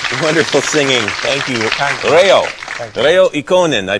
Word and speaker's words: Reijo Ikonen: Reijo Ikonen. I pronounced that correct?